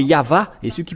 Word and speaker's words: Yahvah: dans ce cas mais ça n'existe pas le vave égal à W é=al ou c'est toujours le V la vraie épellation c'est pourquoi c'est yava et ceux qui prononcent